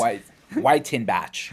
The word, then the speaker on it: Wyttenbach: So it's whit tinbatch. I always make fun of my name. W Y T N B A C H.